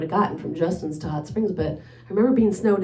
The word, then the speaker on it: Hot Springs: I must have been living in Hot Springs. Justin loves to tease me how I say that with the emphasis on hot, I guess. That's not how you say it in Arkansas, even though I've been